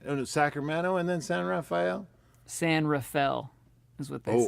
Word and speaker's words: San Rafael: raphael i think sacramento and then san rafael san rafael is what they say yeah are you setting